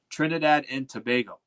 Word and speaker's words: Trinidad and Tobago: They even helped me pronounce it because I think I was pronouncing it wrong. Trinidad and Tobago.